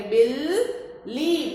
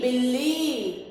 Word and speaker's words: बिल्ली: छोटी ई की बी, और ये आधे ल का उच्चारण उसके साथ वाले वर्ण के साथ ही इसका उच्चारण करेंगे। बिल्ली, बिल्ली।